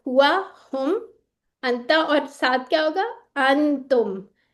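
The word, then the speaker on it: أنت: ठीक है, अंता। जैसे हम कहते हैं ना पंखा, वैसे ही लाइट सा ये प्रोनाउंस होता है, अंता।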